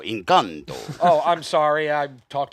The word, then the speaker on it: Encanto: Yeah, you said it wrong. Encanto? No, Encanto.